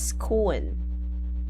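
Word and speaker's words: Skuon: So I think this one is pronounced as skoon. Skoon. Okay, let's go with you, Daniel. Available throughout Cambodia, but a specialty in the town of Skun.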